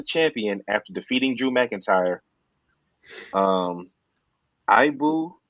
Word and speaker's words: Ibou: Ibu, his name is spelled IBOU, of Self-Made Pro reports